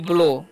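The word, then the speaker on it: blow: क्या पढ़ते हैं इसे हम लोग पढ़ते हैं ब्लो ब्लाउ नहीं पढ़ना है ठीक है ओ डब् का चन जो है यहां पर ओ होता है तो क्या पढ़ेंगे ब्लो ब्लो का मतलब क्या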